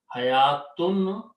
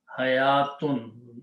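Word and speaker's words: حَيَوٰة: Ha, ya, wow is not pronounced, it's just written there.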